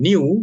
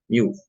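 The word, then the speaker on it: ν: garis tengah ya kemudian new dibacanya new itu adalah viskositas kinematik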